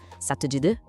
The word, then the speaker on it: ça te dit de: A pronúncia é toda conectada. Ça te dit de?